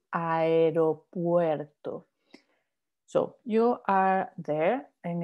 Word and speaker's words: aeropuerto: So when you have like in aeropuerto, you have there like the A, the E, the U, the E all together, you pronounce all of them. So that gets you aeropuerto.